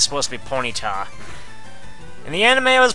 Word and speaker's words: Ponyta: Ace yeah I don't know why Ted Lewis pronounces it as ponita even though it's supposed to be Ponyta and the anime I was pointing to All